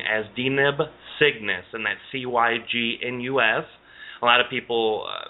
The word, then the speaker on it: Cygnus: He would refer to this being as Deneb Cygnus, and that's Cygnus. A lot of people, in my pronunciation with my southern accent, they say, sounds like I'm saying sickness.